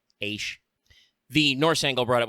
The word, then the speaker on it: Aesc: In modern English, we've basically dropped the AE vowel as a letter entirely to just use A, which can be A, so Aish.